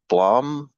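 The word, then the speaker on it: BLAME!: yeah, it's called Blom, is how it's pronounced. But if you just search blame exclamation mark, you'll find it.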